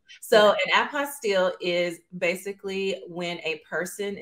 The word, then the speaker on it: apostille: pronunciations the term term does stem I believe from French Origins so it is apostel and I'm Texan so